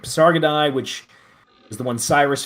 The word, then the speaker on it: Pasargadae: I'm sorry, the Parasad. Is Uh, that it? Pasargadai. Pasargadae. Okay, good. Pasargadae, which is the one Cyrus founded.